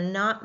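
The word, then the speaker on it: know: So if we look at no, we don't hear the C sound, do we?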